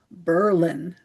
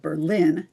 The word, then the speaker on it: Berlin: The pronunciation of Berlin, New Hampshire was changed to Berlin instead of Berlin during World War I as a patriotic stand against Germany.